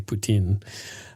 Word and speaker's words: poutine: of our pronunciation of poutine and I know it's it's actually Putin uh but uh I want to avoid being accused of being a Russian sympathizer because it sounds an awful lot like Putin Putin you